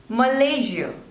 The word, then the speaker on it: Malaysia: Madagascar next is Malaysia Malaysia so there are three syllables and the stress is on the second one Malaysia Malaysia Malaysia next